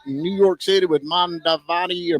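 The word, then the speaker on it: Mamdani: I reckon we had the big debate in New York City with Mondavani or Mondabani. How do you say his name? Mondani.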